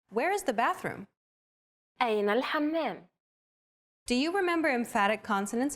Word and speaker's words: الحمام: One trick to produce this sound is to push your tongue as far back in your mouth as you can and then say the word hot. It should help you to pronounce this sound.